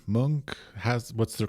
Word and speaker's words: Munch: currently you work at the is I always mispronounce monk monk how's what's the correct pronunciation that was perfect